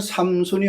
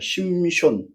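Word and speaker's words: שמשון: 사사가 그 사람을 가르쳐서 전 세계적으로 삼손이라고 그렇게 합니다. 근데 구약 성경에는 삼손이 없습니다. 심손입니다. 심손.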